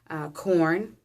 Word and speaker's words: Quorn: So we purchase, as far as foods go, we purchase corn, which is spelled Quorn.